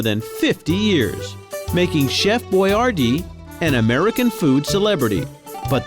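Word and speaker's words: Boiardi: Hector Boyardee spelled his name B-O-I-A-R-D-I. And because a lot of people didn't know how to pronounce Italian names back then, he changed his name and spelled it phonetically.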